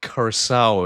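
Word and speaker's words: Curaçao: It is pronounced Curacao is what I've learned.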